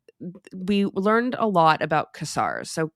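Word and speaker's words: Ksar: And we learned a lot about Casar. So Casar is spelled K S A R.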